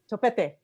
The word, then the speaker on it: Topete: How do we pronounce Daniel's last name? Topete? Topete.